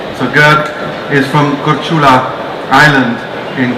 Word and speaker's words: Grk: Basically it's pronounced Gurk. It's one of the few languages to have three consonants together, making up a name. So Gurk is from Korčula Island in Croatia, mainly in